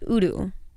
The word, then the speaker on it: YDE: a gem Heritage so it's actually pronounced Udo oh S I recently found this out cuz I was in a c and this guy was like oh your last name's right and I was